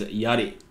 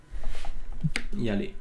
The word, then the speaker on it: yari: And I shouldn't be pronouncing it terribly. If you don't know, I'm half Japanese, so I should be pronouncing it properly, which is Yari. Yari.